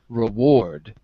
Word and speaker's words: reward: incentive just one thing is it re is it reward or is it reward where is the stress on the first syllable or in the second syllable reward on the second on the second right